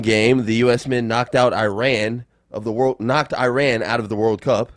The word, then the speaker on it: Iran: Iran, and it's only because some of the Iranian journalists and players have been upset that people have been mispronouncing it. So, Iran, go ahead.